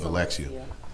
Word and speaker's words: Alexia: on, and then we can go more into Alexia, right? Am I saying it correctly? Yes, Alexia.